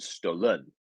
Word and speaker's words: stolen: the first syllable here so it's stolen not stolen stolen which um just isn't a word but stolen sense if